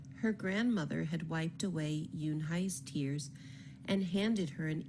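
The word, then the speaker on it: Unhei: "Uni?" some kids chanted. "No, no," Yun Hai corrected. "It's spelled U-N-H-E-I. It's pronounced Yun Hai." "Oh, it's Yun Hai," the boy said, "like you, hey."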